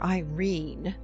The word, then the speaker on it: Irene: My daughter Irene, said Mrs. Carstyle. She made it rhyme with terine.